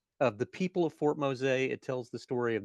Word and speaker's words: Mose: Let me start off by asking the dumb question, which is why is it Fort Mosa and not Fort Mo? Well, it's Spanish pronunciation, you know. I I guess it got anglicized into Mo, but they have it